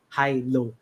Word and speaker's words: HILO: that let's use again how we could pronounce it would pronounce it in English which is high low so what does high